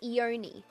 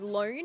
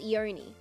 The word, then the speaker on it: Ione: started all right according to google it is pronounced eoni people keep thinking her name is loan and i know that's wrong because i know